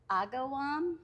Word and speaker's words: Agawam: No, it's Agawam.